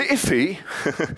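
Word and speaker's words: IIFE: now the ify that's the interesting little pronunciation people have come up for this uh uh acronym here I if right uh somebody thought that looks almost like iffy and iy in English means something like a bit weird odd kind of thing so um they they thought that was a funny pronunciation for it uh are the technical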